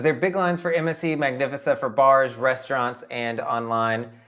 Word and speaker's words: Magnifica: I've got to start saying that correctly. I have learned the incorrect way to say it because, I don't hear people talk about MSC that much. And so I've learned the wrong way to say the name. It is Magnifica.